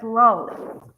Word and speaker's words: Lally: Well, the prosecuting attorney is called, his name is spelled Lally, Lally, but everyone says Lolly. So it just depends how you pronounce.